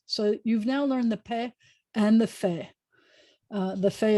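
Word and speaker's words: פ: over your bottom lip, take your fangs, your front teeth, and put it over your bottom lip. And then you have a no pill. You have your fangs. So you've now learned the Pheh and the Pheh.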